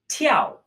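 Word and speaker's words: 踢: Our next character is the character for to kick, pronounced ti. T, just like T in English.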